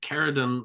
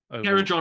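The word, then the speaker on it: Kharadron: But the I'm going to say it wrong because I always second guess myself, but is it Caradon Overlords? I think it's Caradron. Caradron Overlords, yeah.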